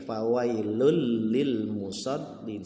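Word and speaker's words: فويل للمصلين: petikan fawailul Lil mushollin Tapi bacanya tidak fawailul Lil Tapi bacanya fawailul tanwin bertemu dengan lam maka dibacanya seperti huruf lam idgom bilaguna bukan fawailul Lil mushollin tapi fawailul Lil musholliin seolah-olah tanwinnya tidak terbaca ya fawailul Lil mushollin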